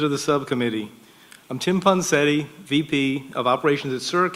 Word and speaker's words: Ponsetti: Ponsetti. Am I pronouncing that right? Yeah, you're recognized for 5 minutes. Thank you, Chair Duncan, and members of the subcommittee. I'm Tim Ponsetti, VP of Operations at CERC, headquartered in Charlotte,